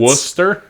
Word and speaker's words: Worcester: of the town John that's missing a lot of syllables I'm telling you man it's wer yep trust me I